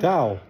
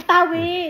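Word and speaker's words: tawo: That's what I said towel. Yeah, like a towel that you dry off with. It's not a towel. Taw. It's not a towel. Spell it. Taw. Spell it. T A W O.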